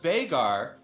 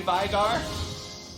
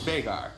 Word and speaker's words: Veigar: He's from Iceland. It's an Icelandic name, and it's actually pronounced Veigar. I hear a lot of people say Veigar, but I know the actual human.